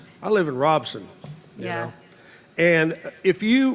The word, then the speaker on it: Robinson: And I know in so many people, I actually used to live in Robinson, but you know, you say Robinson, but locals call it Robson. I live in Robson.